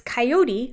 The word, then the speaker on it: coyote: says it so quick he takes coyote which is a three- syllable word and he breaks it down to a two- syllable word but it's not kot